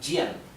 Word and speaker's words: Jian: La J se pronuncia J, como la J del inglés, ¿sí? Vamos a representarlo con una GH. J. Bien. Por ejemplo, la palabra Jian, esto se pronunciaría Jian.